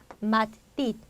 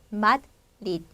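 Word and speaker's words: Madrid: 마드리드. 자, 앞에 있는 이제 약하게 마드, 마에 빨리 붙여주시면 되고요. 자, 대로 끝나 있는 단어 어때요? 그냥 받침을 넣어주고 이렇게 발음을 닫아주면 된다고 했죠? 마드리드, 마드리드 이렇게 구분이 됩니다.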